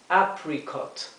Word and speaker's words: apricot: Damasco o albaricoque es apricot, apricot, apricot. La dificultad nuevamente radica en la letra R. Hay que pronunciar la R como se pronuncia en inglés con la lengua detrás del paladar.